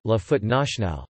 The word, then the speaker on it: la Fête nationale: In French, it is formally called La Fête Nationale, French pronunciation, La Fête Nationale, the national celebration, and commonly and legally Le 14 Juillet, French pronunciation, L Cats, I, the 14th of July.